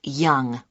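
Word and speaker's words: Yonge: now can i have your name yes it's young young that's that's spelled y o n g e that's young i see and your address 15 caper cayley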